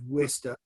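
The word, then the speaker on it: Worcester: mom took me to the big city of wista massachusetts which is not a big city but it's spelled very differently than you would think yeah orchestra i was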